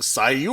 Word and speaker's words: Seuk: tonight we're super excited to have special guest sook Kim from tactical airsoft arena and cheez-it Lang says get it right it's pronounced Sai you oh is that like Hadouken I don't know